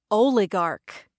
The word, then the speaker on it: oligarch: This week's vocabulary word of the week is oligarch. Oligarch. Oligarch. Oligarch, also pronounced oligarch, but I've always said oligarch. Both pronunciations are correct, despite what my husband said.